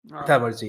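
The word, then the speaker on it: thaumaturgy: I do not know how to pronounce Oh, this. okay. Yeah. Thamarji, yes, thank you.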